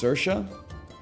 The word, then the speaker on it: Saoirse: I can't pronounce her name, but that's my fault more than anything else. It's Saoirse.